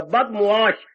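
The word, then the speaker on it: बदमुआश: बुरी बदमाश होती है बदमाश शब्द नहीं होता बदश बद माने बुरा मुश माने व्यवहार जिसका व्यवहार बुरा हो जिसका आचरण बुरा हो बदमाश शब्द बोलती है पर ये उच्चारणारा गलत है बद मीम और ऐन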